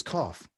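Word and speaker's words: כף: the letter cough okay and cough is spelled it could be a k a ph or you might supposed to see it someone spell it a k a c a p h who cares we only it's cough okay if you want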